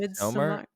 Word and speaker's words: Midsommar: You have the May Queen from how do you pronounce it? Midsommar? Midsummer.